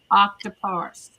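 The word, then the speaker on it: Octoparse: We have a new program that's been purchased called Octopus. It's spelled like octopus only instead of us s at the end it has a r e.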